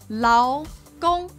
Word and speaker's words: 劳工: And this is pronounced with a second tone and then a first tone. 劳工.